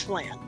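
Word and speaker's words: Phlan: As in the tasty caramel dish. Flan? Yes. Is that pronounced? Okay. Not. Okay. Flan. Good. Yep, it's Flan.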